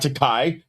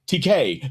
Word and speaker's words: Takei: My last name is pronounced TK, not Takai. TK, like to pay.